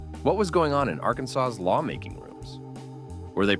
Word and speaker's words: Arkansas: officially declared that the state's name must be pronounced Arkansas. Not Arkansas, not Arkansas, just one single state approved way.